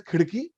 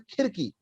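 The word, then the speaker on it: खिड़की: Okay, I couldn't call it as khidki. I pronounced it as khirki because I could not do the r.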